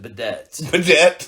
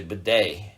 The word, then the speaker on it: bidet: was before you got it no i actually pronounced it bedettes and it took telling it to a couple other friends of mine you know telling friends of mine about it right hey man it's actually bidet and rocked your world oh